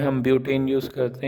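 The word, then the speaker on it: but-: Similarly for 3 carbon we use prop, for 4 carbons we यूज़ ब्यूट, BUT लिखते हैं और इसका प्रोनाउंसिएशन ब्यूट होता है।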